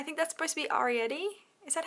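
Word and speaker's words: Arrietty: I think that's supposed to be Arietti. Is that how you pronounce it? Yeah, Arietti.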